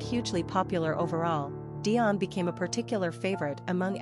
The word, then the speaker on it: Deon: Pronunciation, Dion, or Dahn.